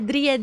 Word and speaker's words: Dri: Então, Dri, que é a mesma pronúncia, basicamente em holandês, representaria a nossa marca. E aí, aí a gente, fechou, é Dri.